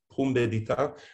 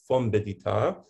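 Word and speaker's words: Pumbedita: It's normally pronounced pum bedita. My father used to pronounce it fom bedita.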